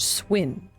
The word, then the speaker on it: cwn: The one pet in Mabby that's spelled CWN is pronounced Swin.